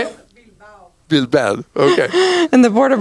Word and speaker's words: Bilbao: Bilbao.